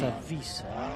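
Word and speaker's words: Wisse: Oh, W-I-S-S-E. But it's a Vis.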